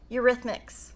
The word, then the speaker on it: Eurythmics: Eurythmics.